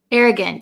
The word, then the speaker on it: arrogant: okay so arrogant arrogant so it looks like it should be pronounced arrogant arrogant but um usually the last vowel in a word um we change change it to like almost a short ey sound I arrogant see how